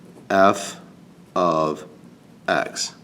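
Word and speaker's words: f(x): this thing called f of x this is pronounced f of x right that's this they mean the same thing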